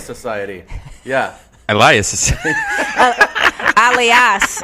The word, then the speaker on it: Alias: Oh, it's Elias Society. Yeah. Elias. Alias, I believe is how you say that.